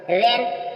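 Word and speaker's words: reign: होगा जी के बाद एन आएगा तो जी साइलेंट होगा रन रन मीस राज्य जी साइलेंट है नेक्स्ट चलेंगे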